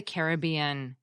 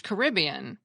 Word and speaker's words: Caribbean: Pirate of the Caribbean but what was striking to a lot of people when they heard that title was not just Captain Jack's lack of manners but also that the disneyfied pronunciation was a bit different than the one many English speakers use which is Caribbean so who's right Grammar